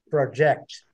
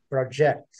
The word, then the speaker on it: project: Muito clássico aqui ó é o verbo na última sílaba como se fosse no português né e o e o substantivo na sílaba anterior né geralmente nax Project